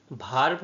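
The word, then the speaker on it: varve: নামে চিহ্নিত করা হয় ভার্ব নামে চিহ্নিত করা হয় হ্যাঁ ঠিক বলেছে ইংলিশে যে ভার্ব বলা হয় ঠিক একই তার উচ্চারণ সেই পলিকে ভার্ব বলা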